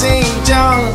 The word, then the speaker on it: Xinjiang: Please say my name, it is pronounced Xinjiang.